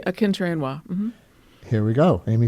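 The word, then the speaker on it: Akinterinwa: Akinter-Inwa.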